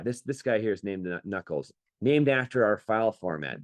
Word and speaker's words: NACL: Yeah, this guy here is named Knuckles, named after our file format. The .nacl file format is the underlying text file format. It's called NACL, which we pronounce Knuckle.